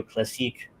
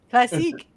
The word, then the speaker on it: Classique: as well as radio classic. I butchered both words. That's okay. Classique. It's French.